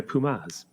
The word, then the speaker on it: Puma: I think Pumas is pronounced Pumas.